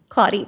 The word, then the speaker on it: Claudia: Our next speaker is Reverend, and I believe the correct pronunciation is Claudia? Claudia, thank you.